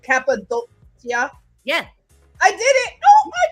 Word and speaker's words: Cappadocia: I want to get my pronunciation right. Cappadocia.